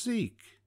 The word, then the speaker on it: Zeke: There's an old Bible name that I think rhymes with meek. I know, it's Ezekiel, For short, that is Zeke.